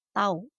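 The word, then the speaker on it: τ: Simbolnya seperti huruf T, dibacanya tau.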